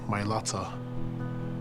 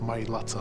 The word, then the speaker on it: Mailata: representing our family Nam the myata that's the correct way to say it guys my Lata on the back of